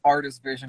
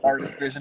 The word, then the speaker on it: RTS Vision: it's pronounced Artist Vision. If you really, it's pronounced Artist Vision. It's like RTS, but damn, that's a license RTS plate. Vision.